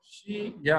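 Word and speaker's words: 谁: That था इज फॉर शी या हर। Okay ये जो करेक्टर है इसकी दो प्रोनाउंसिएशन है, एक है शॉय राइजिंग टोन, एक है शाय राइजिंग टोन।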